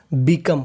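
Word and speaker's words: become: में लिखा है ई अगर आपको इंग्लिश की किसी भी मीनिंग के आखिरी में इ लिखा मिले तो उसका उच्चारण नहीं करना बिकम बिकम का मतलब होना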